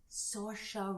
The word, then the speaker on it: Saoirse: Atonement is with Keira Knightley and James McAvoy, and then you say her name, Saoirse Ronan is how you say her name, but it's Oh, yeah.